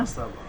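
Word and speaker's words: حَسَبَ: হাসাবা হলো, তাই না? হাসাবা।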